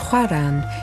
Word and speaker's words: Oran: Oran, pronounced Houaran, is Algeria's closest point to Europe.